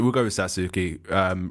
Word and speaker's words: Satsuki: It's like it's spelled like Satsuki, but I'm not sure. It sounds Satsuki. Yeah, I'm not sure. They pronounce it kind of different. Sasuke. I'm not sure. I've watched too much anime now to understand. I want to say Satsuki. Yeah, I think it's Satsuki.